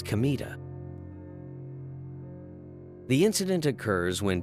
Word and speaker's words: Kamita: incident with Troublesome customers Kino learns his name kamita written with the characters for God and field pronounced not as K but as kamita the incident occurs when